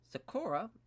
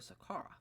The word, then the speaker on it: Sakara: will be as alicio Sakura taking on Keith Jardine or I guess you could say that's Sahara but yeah that's probably the correct pronunciation actually alicio Sakara yes there we go uh then the opening